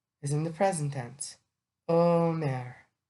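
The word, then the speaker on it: אומר: Omer. Omer. That's the modern Hebrew pronunciation.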